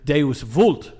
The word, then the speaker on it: Deus vult: All the moderns want to do it the German way, but you got to do it like a good Italian. How do you? Deus vult.